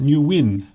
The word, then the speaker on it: Nguyen: It's actually pronounced Nguyen.